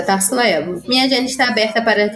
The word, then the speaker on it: Tarssila Ebbo: Eu me pronuncio de uma forma mais corporativa, né? E mais profissional. É Tarsila Evo.